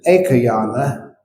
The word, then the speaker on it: ekayana: My pronunciation there was I'm very mindful and careful how I pronounce that because ekayana a short a after the k e aana does mean one way that's not what the Buddha said that aayana a going in one direction only.